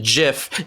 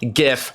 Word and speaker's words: GIF: pronounced GIF he literally had to put it's pronounced GIF J if F not GIF GI well then why is it spelled that